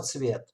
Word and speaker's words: Tsvet: O nome de professor, Michael, que temos pós-doc no minha grupo, e o nome de família se chama Tsvet, Tsvet, pronúncia como Tsvet.